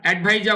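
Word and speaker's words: adviser: chief এডভাইজার chief এডভাইজার এডভাইজার উচ্চারণ হবে আর এর উচ্চারণটা করা যাবে না চিফ এডভাইজার প্রধান উপদেষ্টা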